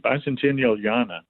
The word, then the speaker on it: Bicentennialiana: So he wrote a piece called Bicentennial IANA, Bicentennial Yana, which he pronounced like, now we playing Bicentennial Yana. Like Mozartiana, but Bicentennialiana. Yeah, exactly.